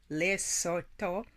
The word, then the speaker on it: Lesotho: As far as identification, the area now called the Kingdom of Lesotho, pronounced as Lesotho, was originally Basuto land.